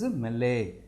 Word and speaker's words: melee: A local astrologer watching the melee is, though we have two double E at the end, we have to pronounce this as melee.